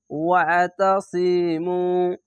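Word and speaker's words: وَاعْتَصِمُوا: ওয়াতাসিমু, পেশের পাশে অসাকিন এক আলিফ টেনে পড়বেন, আইনটিকে একটু মোটা করে গলা চিপে পড়বেন।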